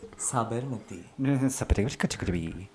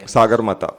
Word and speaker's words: Sagarmatha: Sabarmati. I try and get What these. is Mount Kalish? Sabarmati. Give me a second. I just Yeah. want to make sure I'm saying it right. Why? Sagarmata.